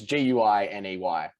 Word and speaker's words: Guiney: Like it's Guiney. Anyway, and after the first week, she pronounced it wrong.